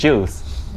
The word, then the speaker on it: Giles: yeah sel's not s jals pronounced with a J that's what the counter